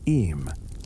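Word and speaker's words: Eyam: Fast forward three centuries, the year 1665, the place, a sleepy Darbisher settlement called Ayam. two syllables that locals pronounce em, though the rest of England will soon pronounce it in awe.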